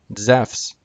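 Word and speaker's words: Ζεύς: Greek word ei Seuss and the name Zeus in Greek zephs completely different this is a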